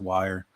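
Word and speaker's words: Wyre: path uh above River I believe it's pronounced wire um uh correct me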